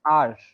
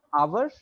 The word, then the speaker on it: our: Both of these words, our and our, they're pronounced r, not ours, but r.